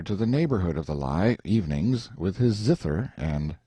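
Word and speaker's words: Lei: high rock called the lie or Li pronounced like our word lie in the Rind and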